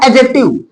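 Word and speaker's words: adjective: आता है बच्चा एडजेक्टिव इसको बोला जाएगा एडजेक्टिव एडजेक्टिव डी साइलेंट रहेगा एडजेक्टिव एडजेक्टिव मीस होगा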